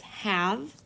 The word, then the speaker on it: have: on the sight words have and six. For have, it is H, A, V, E. This sight word you can sound out H, A, V. Have. The E in have is silent.